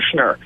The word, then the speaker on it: Schnur: Well, we simply say for sure. For sure, for Schnur.